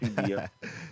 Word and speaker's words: CBF: the show my bad no it's CBF it's CBF listen CBF um first of all